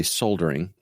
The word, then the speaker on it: soldering: So, uh, the last thing I dropped in here was just the word soldering, or as the British say, soldering because fucking L in it.